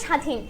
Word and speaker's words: স্বাধীন: আচ্ছা শব্দের শুরুতে বফলা যুক্ত হলে শব্দের শুরুতে যদি আমাদের বফলাটা যুক্ত হয় তার উচ্চারণ হয় না। ঠিক আছে? যেমন দেখো স্বাধীন। এই কথাটা আমার ছোটবেলায় বারবার মাথার ভিতরে ঘুরতে যাই। এখানে তো ব আছে। তাহলে ব এর উচ্চারণ কেন করে না?